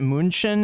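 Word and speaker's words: München: Munchin is the actual is how you say that in in German.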